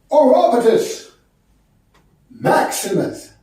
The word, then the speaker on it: Orapotist Maximus: My name is pronounced Orapotist Maximus.